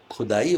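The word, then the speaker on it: ख़ुदा: मिट्टी की खुदाई होती है और खुदा की खुदाई होती है। ख के नीचे नुक्ता है वहाँ।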